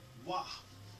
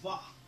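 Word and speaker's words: ו: This here is a wah, or a vah, as they call it. Sometimes you'll see it as a vah. that's some Jewish shit because they couldn't pronounce the W, so they said Va, which is German.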